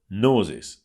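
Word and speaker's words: Gnosis: reputable companies in crypto nosis spelled with GN o s i s which is also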